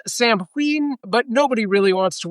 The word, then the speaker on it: Samhain: Uh, first off, Sam Hayne, correctly pronounced Sam Heen.